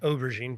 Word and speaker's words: aubergine: And over time, when the option came to purchase this restaurant nightclub, aubergine means eggplant in French, by the way, pronounced aubergine, but anyway, he really helped walk us through that sale, right?